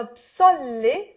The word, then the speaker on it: بصلي: Sa and sa. So ana salli. Put the b to the ana to make it easier. Ana أنا بسلي, I entertain. أنا بص with the a. أنا بصلي, I pray. Did you hear the difference?